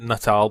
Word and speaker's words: Natal: you're welcome project natal I know they pronounced it Nal but I'm going to keep calling it natal because that's what it looks like and it's a really